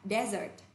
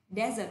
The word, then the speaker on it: desert: Khi chúng ta đọc là sa mạc thì chúng ta sẽ dùng là danh từ, và danh từ này trọng âm thứ nhất ạ. Desert. Desert âm là âm E.